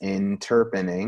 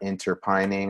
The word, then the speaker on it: Interpening: you to understand that it's pronounced in Terpening not entertaining or entertaining or anything like that or it's the combination of the words interpreting and terpenes and that was a